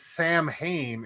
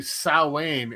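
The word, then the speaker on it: Samhain: It's looks like it's pronounced as Sam Hayne. It's actually Sain.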